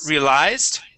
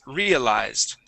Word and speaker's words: realized: here okay uh so instead of realized with the stress at the end here it is realized stress at the very beginning realized realized um and